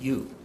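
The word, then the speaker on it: 乳: The character at the top right, this one, is pronounced yu.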